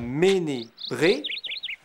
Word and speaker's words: Menez Bre: Le "e" se prononce toujours "é", comme dans "Menez Bre".